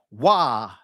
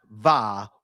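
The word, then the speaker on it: waw: Wa, not Va or U or U.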